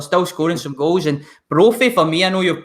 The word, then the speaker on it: Brophy: Brophy. Brophy, isn't it?